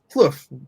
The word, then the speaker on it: Plouffe: pronouncing my last name give it a try fluff yes yes great work and i didn't ask her before we started listen i'm french canadian and so i don't expect people to have the french you know tone to to the pronunciation of my last name it's all good you